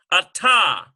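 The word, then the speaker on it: אתה: Literally, it sounds like this. You hear two T sounds, ata.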